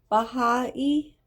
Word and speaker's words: Baha'i: The temple called, we'll just say Baha. The Baha House. Who let the dogs out? The Baha House of Worship. Baha'i, thank you. Oh yeah, say Baha'i.